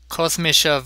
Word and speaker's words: Kosmischer: The trigraph SCH is pronounced sh, like SH in English. Kosmischer Wal.